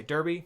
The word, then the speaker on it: derby: I do say Derby, not Derby, because I'm from Kentucky and I say it correctly.